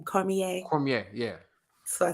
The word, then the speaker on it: Cormier: Cormier. Cormier, yeah, So I said, yeah, Cormier, yeah, whatever. Cormier. Daniel's dude. When It's people from New Orleans, you know what I'm right saying? with his Cormier, Creole name, I see it.